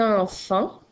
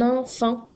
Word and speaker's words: enfant: Alors, dans le mot enfant, tu as deux fois le son en. Le premier s'écrit A-N, E-N et le deuxième s'écrit A-N. Attention, il y a aussi la liaison que tu entends. Un enfant. Donc, tu entends la liaison du N avec la voyelle.